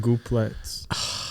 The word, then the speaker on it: gooplets: No, you missed the L in gooplets. You said so goopettes.